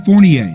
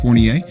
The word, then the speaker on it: Fournier: acl and everybody's saying well they got evan fournier that's how you pronounce his name for everybody out there fournier talented player averaging 19 points can shoot the